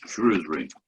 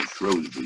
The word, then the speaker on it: Shrewsbury: in time to Victorian Shrewsbury, or Shrewsbury, however you wish to pronounce it.